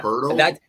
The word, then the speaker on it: Poeltl: If you go on Basketball Reference, like the little enunciation, it says Poeltl. Okay, it's Poeltl. With an R. Yeah, Poeltl?